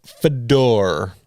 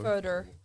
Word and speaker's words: Fedor: The chauffeur, a dour fellow by the name of Fedor. He says Fedor, Fedor. Further. Further. It's the first syllable.